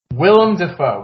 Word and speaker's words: Willem Dafoe: kind of you're close get rid of a syllable Willem Dafoe we got there yeah yeah William his name is William it's just Willem it's just the the nickname